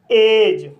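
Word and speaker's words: edge: तो गाइस इसका रूल है जब किसी वर्ड में डी के बाद जी ई आए तब डी साइलेंट रहता है। जैसे एज बेज वज लॉज ब्रिज।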